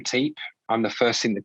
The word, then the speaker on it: Teape: Sorry, yeah, it's Teape, Teep.